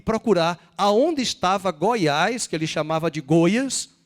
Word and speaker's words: Goiás: o que era Goiás americanos têm dificuldade de pronunciar o acento agudo as vogais e ele falou vai para Goiás Goiás e não tinha Waze